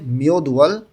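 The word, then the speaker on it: 몇 월: আজ মিয়দুয়াল এই যে এখানে উচ্চারণ হবে মিয়দুয়াল কত মাসের মিয়চ্ছি কত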